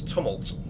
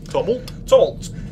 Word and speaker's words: Tumult: it up, is your kick, and let me pronounce this right, it's Tumult. Tumult.